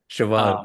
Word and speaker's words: Siobhan: pops up a couple times yes that's right shoban you even even say her name correctly oh